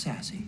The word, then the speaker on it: SASSC: Meanwhile, Mary brings in the group from SASSC, and we learn that it's pronounced sassy. Sassy.